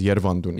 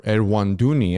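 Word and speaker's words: Երվանդունի: for any of our international audience, non-Armenian audience, Orontid is the English pronunciation, but in our history, yeah, we learned it as Yervandun.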